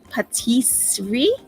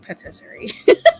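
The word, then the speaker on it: pâtisserie: like little um oh Patisserie Patisserie thank you that's how you pronounce it I had no idea I mean to me it looks like Patisserie like rotisserie Elizabeth Connor Thank You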